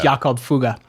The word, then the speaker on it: Jakob Fugger: But the German pronunciation is Jakob Fugger.